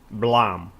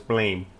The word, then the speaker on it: BLAME!: then you have to see Blom actually that's how it's pronounced I thought it was Blaine and I saw this